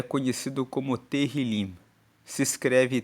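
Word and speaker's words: Tehilim: Salmos no texto original hebraico é conhecido como teril se escreve t e h i l i m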